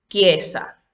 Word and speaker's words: chiesa: Las letras CH en conjunto con la vocal I se pronuncia como si en español estuviésemos pronunciando ki, chiesa, química.